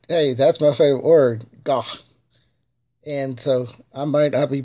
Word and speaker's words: gagh: That is pretty much bloodworms, a soup, and it's called gah, gah. It's spelled GAGH.